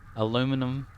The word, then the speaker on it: aluminum: Aluminum, like aluminum foil.